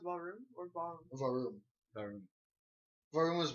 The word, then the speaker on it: warum: But Wait, is it pronounced ballroom or ballroom? Varum.